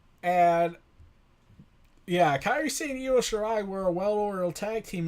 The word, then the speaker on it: Io Shirai: And sure enough, that match was Kairi Sane, Io Shirai, I finally got to pronounce that right, Bianca Belair, and Shayna Baszler for the NXT Women's Championship.